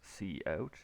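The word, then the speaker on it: cout: in and the command this is spelled or pronounced c out in c plus so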